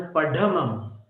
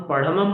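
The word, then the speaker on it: पढमं: वो उच्चारण पढ़मम इस पद में था, हम पढ़मम बोलते थे, ढ के नीचे एक नुक्ता लगाकर उच्चारण करते थे। हिंदी में होता है ना दृढ़, तो वैसा उच्चारण करते थे। फिर जब उनका सुना तब लगा कि नहीं, उच्चारण अशुद्ध है। तो पढ़म हवई मंगलम। पढ़, ढ, ढक्कन वाला ढ बोलना है आपको, दृढ़ वाला ढ नहीं बोलना है, दोनों में अंतर है।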